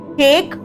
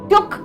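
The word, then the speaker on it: took: टेक, टुक, taken. टूक नहीं, टुक है ना, एक झटके से।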